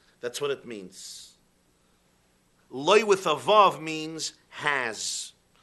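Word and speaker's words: לא: Okay, the word loy is written in the Torah, lamed aleph, loy. It's pronounced lamed vav. It sounds the same, loy, loy.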